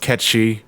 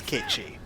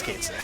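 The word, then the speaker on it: Cait Sith: night by the way we know it's supposed to be pronounced ketchy because that's gaelic yeah but it's phonetically we pronounce it as kate's like that's what we all know listen if i'm talking about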